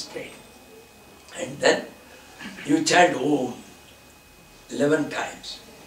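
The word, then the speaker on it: ॐ: And then you chant Om 11 times. How to chant Om? Om chant be canted from the navel. Om, like the roar of a tiger.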